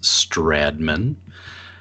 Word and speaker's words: Stratman: name is Stratman in my case the T is silent so it's Strad Minh I am from northern